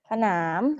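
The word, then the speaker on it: สนาม: 二为什么因为它是一个高辅音高辅音和什么原因高辅音和短元音所以怎么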